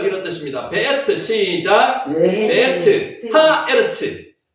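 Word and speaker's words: הארץ: 하에르츠. 하아르츠. 하아르츠. 에르츠가 앞에 있는 하 때문에 아로 발음이 됩니다.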